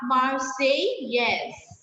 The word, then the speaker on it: Marseillaise: It's La Marseillaise. La Marseillaise. Now, double L will be silent here. Like I always tell you, double L is always silent in French words. So, La Marseillaise.